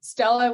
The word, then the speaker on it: Stella: And yeah, I'm Stella with Brella. So I recommend everyone go and work for a company that rhymes with your name.